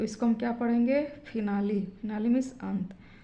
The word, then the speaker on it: finale: इसी प्रकार FINALE, फिनाली, यहाँ पर भी लास्ट में ई आ गया है तो इस ई का उच्चारण हम ई के रूप में ही करेंगे, तो इसको हम क्या पढ़ेंगे, फिनाली।